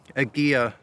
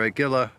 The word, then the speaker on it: Aguila: And I'm shooting the always excellent Aguila, or Aguila as some people pronounce it, ammunition from Mexico.